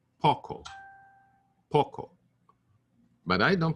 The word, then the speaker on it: poco: Poco I say Poco so it's more like the O in the British pronunciation of stock poco poco stock not